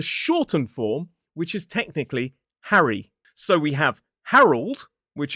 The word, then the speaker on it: Harry: So this form is H-A-R-E. Harry. 2 syllables, stress on the first.